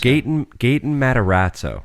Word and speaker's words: Gaten Matarazzo: It's Gaten Matarazzo. Sure. But Dustin from Stranger Things. Gaten Matarazzo, I think, is how you pronounce that.